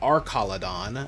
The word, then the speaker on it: Archaludon: Or apparently, according to the anime, it's pronounced Archaludon. I don't know if I like that pronunciation, because it's like arch, as in like, you know, like a bridge, not arc as in Arceus, but whatever.